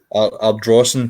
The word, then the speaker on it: Ardrossan: I'll let you give the pronunciation of that. Well done. Ardrossan Castle.